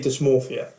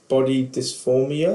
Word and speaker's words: dysmorphia: people think of body dysphoria. Dysmorphia. Yeah. I said it right the first time, and then my brain then went, you didn't say that right.